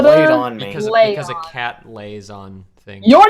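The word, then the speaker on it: Leijon: Leon like a lion. Yeah. Second, oh, okay. Invisible J.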